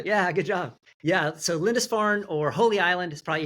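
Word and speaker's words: Lindisfarne: Lindesfarn. Is that how you say? That's right. Well done. Yeah. Good job. Yeah. So Lindesfarn or Holy Island is probably easier to say, but that's what it is.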